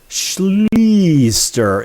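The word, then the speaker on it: Schlichter: And his surname is pronounced Schleaster, in case you're wondering.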